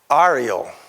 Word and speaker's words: areole: Cactus have something called an areole, which is a spine, a central point where it can grow from. And it's pronounced A-R-I-E-L.